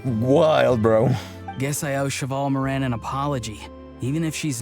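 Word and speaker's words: Chevalmarin: It's for the Chevrolamine Film Fantasyland. Wait, is that right? Your pronunciation could use some work, but yeah. It's Cheval Moran.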